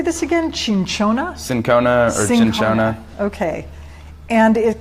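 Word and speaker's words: cinchona: how do you say this again change Shona sin Kona and Shona okay and it comes it's the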